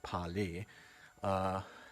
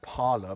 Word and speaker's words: Parler: I'm probably the only one who pronounces it Parler. Everyone is pronouncing it Parler because they don't know how to pronounce Parler.